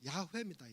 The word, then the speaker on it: 야훼: 근데 정확하게는 야훼입니다. 야훼.